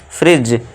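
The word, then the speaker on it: fridge: उस डी को नहीं लेना है। और हम इसे क्या पढ़ेंगे हम? फ्रिज। और इसे डी को साइलेंट रखेंगे।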